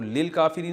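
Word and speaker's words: للكافرين: होता है मखसूस काफिर तो लिल काफिरीन असल में था ली अल काफिरीना तो अलिफ साइलेंट हो गया वल काफरीना और ऐसे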